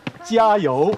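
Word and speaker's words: 加油: 그래서 짜요 이렇게 발음해요.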